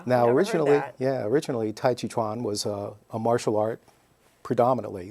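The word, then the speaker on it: 太極拳: a different term than Qi so it's really mispronounced it's a Tai Chi Chuan is the correct pronunciation and well maybe not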